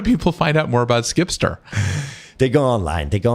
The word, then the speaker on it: Zkipster: Z like a zebra. Z KIPSTER. So it sounds like zkipster, even though it's Zkipster.